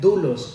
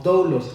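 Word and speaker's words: δοῦλος: Esta palabra siervo en el griego es una palabra que se pronuncia doulos o doulos.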